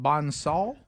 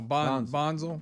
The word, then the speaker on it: Bonsall: Bonsall? No, Bonzel.